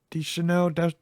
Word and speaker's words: Deschanel: like you said earlier, the reason he mentioned Zoe Deschanel, Deschanel.